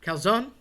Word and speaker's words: calzone: You don't want to drop that E. In Spanish, calzone is underwear. So if you want to walk into a place and order some underwear, help yourself. But if you're overseas, you definitely don't want to do this. You will be looked at funny. Calzone. Don't drop the E.